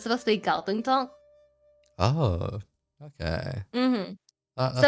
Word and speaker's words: Kowloon Tong: Actually, because a lot of Cantonese like cities, the romanized forms may say like spell it as a K. For example, like Kowloon Tong and other things like that. But in Cantonese, it's actually supposed to be a G.